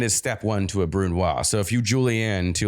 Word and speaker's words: brunoise: would guess who is hunting i'm going to mispronounce everything again what does bruno mean you already sauce that uses alcohol to be burnt down what is how do i say it so brunoise yeah you nailed it um you mentioned it